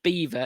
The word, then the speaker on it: Belvoir: Somewhere called Beaver Castle, which is actually spelt Belvoir. Belvoir it's spelt, but it's pronounced Beaver.